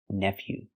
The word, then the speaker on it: nephew: Pronunciation, nephew.